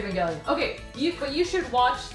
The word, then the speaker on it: Evangelion: Evangelion. It's weird because it sounds like it should be like evangelical. Yeah, that's Right? why I say Evangelion.